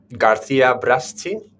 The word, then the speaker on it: Garcia Braschi: Garcia Braschi. Okay, and then Right. I'm gonna spell it for everybody.